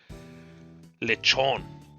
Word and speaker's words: Lechonk: You probably won't catch the K, but that's fine. Like, we don't say the T's in English. So, like in bottle and water. You know, that's kind of the same thing. You just don't say the K.